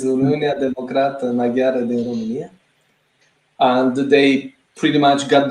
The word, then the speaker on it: Uniunea Democrată Maghiară din România: Narcis and Emilian, please correct me if I'm pronouncing it wrong, but Unia Democrata Maghiara din România, or in Hungarian, Romaniai Magyarok Democratici. That is correct. It's Uniunea Democrată Maghiară din România.